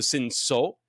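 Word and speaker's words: Cinsault: ns l t but it's French you don't really pronounce the T So Sino um ponor and Sino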